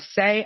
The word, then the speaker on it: Saie: called saie it's uh you may have seen it and not known how to pronounce it but it's s-a-i-e and she's the founder and ceo of say a clean beauty brand